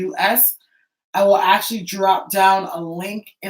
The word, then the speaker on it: Haus: House not spelled like house, but house spelled the German way, Haus.